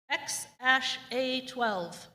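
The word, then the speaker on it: X Æ A-12: of singer grimes and elon musk it is pronounced x-a-12 that was a x-a-12 tune in next year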